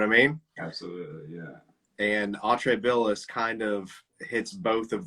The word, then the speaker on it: Atrae Billis: guitar player for Atrae Billis.